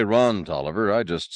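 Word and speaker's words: Taliaferro: whopping wench humping Aristocrat spelled it the long way and pronounced it the short way I'm sorry you told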